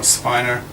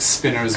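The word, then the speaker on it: spinor: pronounce it spinner or Spiner well I think Spinners one out and it it's just think of um the pronun of the word winner right like it's like winner just so if you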